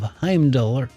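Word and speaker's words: Heimdallr: Empire imperial capital of heimdaller I'm I'm dollar huh Heim dollar is is that right Heimdall the the r is is silent Heim dog okay thank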